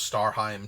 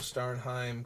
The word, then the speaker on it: Starnheim: For the longest time, I just thought it was Starheim, too. Like, I missed that there was an N there, so I keep thinking it's Starheim.